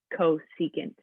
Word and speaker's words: cosecant: you have c secant spelled like is how we say it secant we have cosecant we abbreviate to cfc